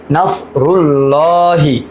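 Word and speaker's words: نصر الله: নাস রুল, লাম খারা জবর লা, হাজির হি, নাসরুল্লাহি।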